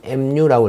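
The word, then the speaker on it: μ: 예, 읽기는 mu라고 읽습니다.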